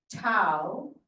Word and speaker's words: Tow: the entire North Beach to is derived from a hidea word that rhymes with cow and means place of